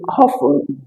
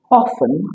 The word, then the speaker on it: often: With often, both pronunciations are correct. You can either say often as I do love to pronounce it, or you say often, although many learners have